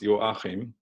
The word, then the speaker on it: Joachim: So when I grew up, it was pronounced Joachim, and Americans or native speakers of English don't really hear what I'm trying to say.